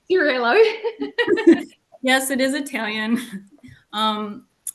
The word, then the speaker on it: Cirillo: I did pronounce Italian pronunciation. Cirillo.